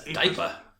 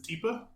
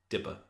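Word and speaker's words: DIPA: Diaper. Yes. No. Actually, the accepted pronunciation is Deepa. Okay. Um, On account of India, it should be Dippa.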